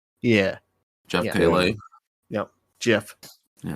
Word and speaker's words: Keighley: It's Keighley, right? Even though it's spelled like weird. Yeah. Jeff Keighley.